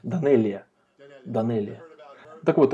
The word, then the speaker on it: Данелия: Как вы правильно произносите? Данелия.